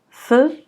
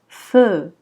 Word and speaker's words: feu: On ne dira pas feu. Non, c'est faux. Ça se prononce feu.